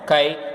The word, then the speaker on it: chi: It is represented like, it's called chi. It is pronounced as chi.